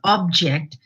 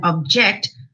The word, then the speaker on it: object: a noun versus object, where the stress falls on two different syllables. Here it falls on the first syllable object and then object as a verb.